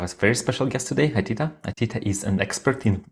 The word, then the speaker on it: Atita: It's Atita, right?